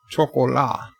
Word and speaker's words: chocolat: Luke says the T is silent in chocolat, unlike the English. Ah, chocolat.